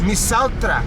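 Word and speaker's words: misaotra: Misautra. Misauta. Tra. Tra. Yes. Misautra. Yeah.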